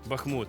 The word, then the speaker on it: Бахмут: Київ це правильна відповідь який правильний наголос Бахмут чи Бахмут Бахмут правильно яку спороду в Чернівцях